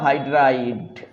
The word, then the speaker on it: হাইড্রাইড: Sodium হাইড্রাইড -1 CaH2 উচ্চারণ ড হবে লাস্টে, হাইড্রাইড এরকম উচ্চারণ, লাস্টে ড আছে, হাইড্রোলিথ।